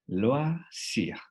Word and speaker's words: loisir: Entonces, como habíamos practicado en el tip, haremos el sonido hasta la letra antes de la no pronunciable. Loisir.